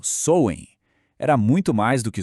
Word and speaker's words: Samhain: o mundo deles, o Samain. Samhain, que se pronuncia algo como Soen, era muito mais do que só uma data no calendário agrícola.